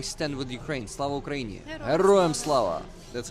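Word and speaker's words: Героям слава: Heroям slava.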